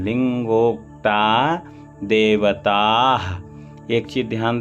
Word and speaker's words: लिंगोक्ता: यहाँ पर थोड़ा समझ लें, ली है, फिर अंगा है, का खा गा घंगा, फिर इसके बाद गा है, फिर गा में ओ की मात्रा, यानी पहले ली के बाद गा का उच्चारण, इसके बाद गा का उच्चारण, गा में ही ओ का उच्चारण होगा।